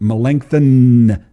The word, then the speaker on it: Melanchthon: And Melanchthon, I'll say the N extra harsh there.